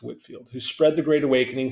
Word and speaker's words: Whitefield: English Minister George Whitfield oh pardon it's spelled Whitefield uh pronounced Whitfield who spread the Great